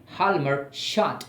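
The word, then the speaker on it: Hjalmar Schacht: वन ऑफ the great economist of the time, हाल्मर शॉर्ट, हम इसे इस तरीके से प्रोनाउंस करते हैं, शॉर्टली कहते हैं, हम शॉर्टली कहते हैं।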